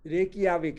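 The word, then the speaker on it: Reykjavík: रेकिया रेकियाविक क्या है बेटा, इसका प्रोनाउंसिएशन क्या है, रेकिएवा है रेकिया रेकियाविक, रेकियाविक है ना।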